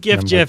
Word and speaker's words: GIF: says the correct pron is s it's like JF man I just I once I've locked in